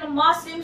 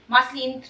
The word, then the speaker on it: muslin: sobrang laki ng discount Muslim swaddles muslin muslin Muslim tamang pronunciation nito maslin from enfant ah Sabi